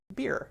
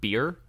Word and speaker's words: Bier: Beer. It's pronounced beer? Like the believe so. drink? Yeah, beer. B-I-E-R, pretty sure.